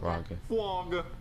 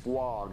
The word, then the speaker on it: frog: Frog. No, see, Jeffy, you're saying it wrong. You're saying flog. You got to say frog.